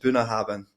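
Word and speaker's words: Bunnahabhain: i Ain even get it's it's pronounced buah habin buah habin yeah that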